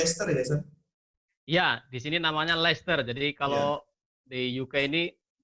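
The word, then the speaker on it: Leicester: posisi di Le ya Iya di sini namanya leer jadi kalau di UK ini apa tulisannya Chester tapi orang membacanya Oke jadi ini Sekarang posisi lagi belajar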